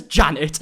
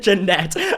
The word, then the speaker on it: Janette: mocked attorney Brawn by mispronouncing her name as Janet instead of Janette I mean [ __